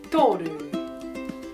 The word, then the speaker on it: toru: It starts with the sound ta, tō, tōru.